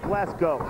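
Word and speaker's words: Glasgow: high school I didn't I didn't know where glasow England was either Norman Miley reaching for the tag not enough momentum behind him actually should pronounce it glass go if you take GL C around these people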